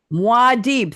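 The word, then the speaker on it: Muad'Dib: Eric is quoting guild agent speaking to another word I can't pronounce. Muad aka Paulad. Say it again. Madib. Muadib.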